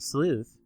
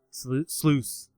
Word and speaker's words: sluice: And since we got a bunch of these little gemstones from the Sooth, or I'm saying it wrong. They're gonna tell me about it. Was it? Sleuth. Yeah. Sluice. There we go.